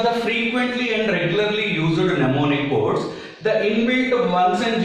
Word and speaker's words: mnemonic: call it as a mnemonic codes. Remember, this M is silent. Mnemonic codes.